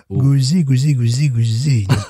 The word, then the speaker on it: Gose: Donc, là, je parlerai de Gose et non pas de Gueuse. Gouzi.